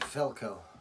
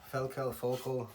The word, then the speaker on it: Völkl: This is your, well, they pronounce it Völkl, Völkl, you get all kinds of different pronunciations.